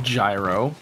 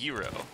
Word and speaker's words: gyro: food item the the the Greek Taco that's pronounced Euro a gyro is not